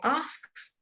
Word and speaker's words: asked: I'll go back down to asking or asked. All right. It's a T sound. Often the D at the end is a T sound. Asked. And here the E before the D is not pronounced.